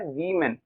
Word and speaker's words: women: और इसको कैसे बोलते हैं, इसको बोलते हैं वीमेन। क्या बोलते हैं, वीमेन। एक है तो वुमेन, बहुत सारी हैं तो वीमेन, वुमेन वीमेन, राइट।